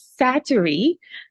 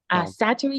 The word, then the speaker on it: Sattery: So her name is Sattery Edwards, but she was called Thelma. Sattery is spelled Satarie.